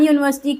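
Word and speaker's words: university: तो एन यूनिवर्सिटी correct क्या है? अ यूनिवर्सिटी या एन यूनिवर्सिटी? करेक्ट होगा अ यूनिवर्सिटी, क्योंकि इसका साउंड आ रहा है य साउंड होगा, इसलिए वो यूनिवर्सिटी होगा,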